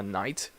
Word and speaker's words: knight: especially like in the medieval times so a knight so knife you do not pronounce the K knife another silent letter answer